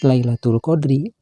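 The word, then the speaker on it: ليلة القدر: maka harus dibaca pilar kalimat Lailatul Qadri bila dihentikan membacanya harus dibaca Lailatul Qadr tapi ada juga yang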